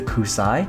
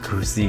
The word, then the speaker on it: Xi: There are so many ways people pronounce it, but I believe the proper way is the Kusai or the Z Gundam.